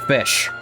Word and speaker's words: Ghoti: Which I can identify with, because it's pronounced fish.